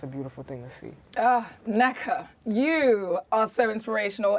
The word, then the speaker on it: Nneka: And I love how you say Nneka. Nneka. When in America they pronounce my name Nneka. I love it. But we're going Nigerian on it.